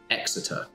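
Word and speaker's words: Xerter: down the corridors of zerta high school or the academy as it was actually called spell x e r t e r or pronounced by other people as exeter so you progress down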